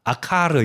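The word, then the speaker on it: עָכוֹר: 아카르 이렇게 발음하는데 이게 아간과 비슷한 발음이고요.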